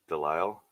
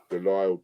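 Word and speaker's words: de Lisle: we go Daniel Del you don't pronounce the S Del okay yeah so D French Del delile Brock it's got a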